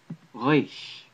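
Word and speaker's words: ריש: Reish in modern Hebrew is pronounced like, I believe, Rain should have been pronounced in ancient Hebrew. It sounds similar to a French R in modern Hebrew.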